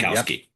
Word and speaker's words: Sikowski: something that Alex Sikowski, is that how you pronounce his name, Brad? I'm looking for a head nod. Sikowski. Yes.